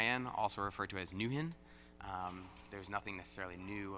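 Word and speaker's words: NwHIN: the nwh I am also referred to as Newton there was nothing necessarily new about it it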